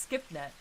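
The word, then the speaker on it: SCiPNET: Pronounced skipnet. It's SCP's internal network.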